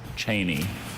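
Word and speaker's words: cheyney: Cheney. This is a woolen fabric in use during the 17th and 18th centuries. Cheney.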